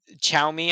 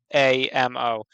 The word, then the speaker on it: Xiaomi: know the company, the Chinese phone company Xiaomi, I think it is, but it's spelled Mm-hmm. like Xiomi or whatever. Xiaomi, Xiaomi, Yeah. Xiaomi. Yeah, so it's Xiamo.